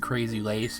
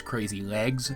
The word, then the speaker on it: Crazy Lace: I know a lot of people misheard Crazy Lace as Crazy Legs when the episode first aired and assumed that maybe it might be a nickname for Centipedal, but on repeat viewings you can clearly hear the soft C sound in Lace, and we know